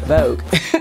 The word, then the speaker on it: Voogue: So I am doing a video in collaboration with Vogue Me, and it is spelled V-O-O-G-U-E. Vogue.